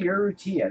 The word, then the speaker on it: Urrutia: Henry Urrutia. I want to pronounce his name right. Henry Urrutia.